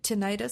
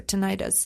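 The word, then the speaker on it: tinnitus: Tinitus is also a big big factor. Tenitis sometimes it's pronounced both ways and both ways are correct. So tinitus or tonitis is when you hear a sound that doesn't have an external source.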